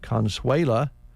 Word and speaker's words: Consuela: and unique purse line the Consuela is the way that's uh pronounced and it's a very